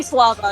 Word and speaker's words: Slava: I'm gonna heal uh how do you say your character's names lava you can just say Slava it's fine okay Slava okay so